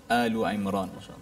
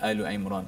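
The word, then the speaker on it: آل عمران: So kita menyemak dua ayat ini iaitu ayat ke-38 dan 39 surah Al-Imran. So bacanya Al-Imran. Ada orang baca Al-Imran ya. Itu tidak tepatlah.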